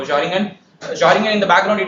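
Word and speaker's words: xaringan: I think it should be pronounced as Zaringen, like Xiaomi. So Zaringen.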